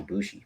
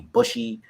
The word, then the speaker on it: Bushi: So what before that though, like I said, his name was Bushi. People would butcher the name. It'd be Bushy. They called me one time while it was Bushi.